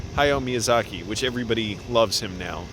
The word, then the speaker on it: Hayao Miyazaki: I almost said his name wrong. Hayao Miyazaki, which everybody loves him now, and thank goodness he's still around.